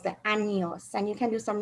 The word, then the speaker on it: años: The N has a unique sound, and it's important that you pronounce it like the NY in canyon.